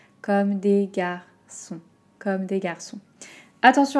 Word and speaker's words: Comme des Garçons: qui sort d'une main balme la deuxième et comme des garçons donc celle ci j'ai entendu beaucoup de prononciation différentes attention comme à un petit peu